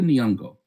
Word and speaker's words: Nyong'o: Okay, I'm gonna say it straight because I always say it like the rappers do, but Lupita Nyong'o.